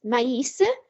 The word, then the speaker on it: maïs: But maïs, you actually sound the I because of the tremor for maize.